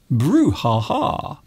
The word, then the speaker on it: brouhaha: It sounds a little bit like ooh la la, ooh la la. Instead, it is brouhaha.